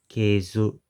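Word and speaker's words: 系図: And this word at the end of verse 1 in the Japanese is pronounced keizu, and just means genealogy.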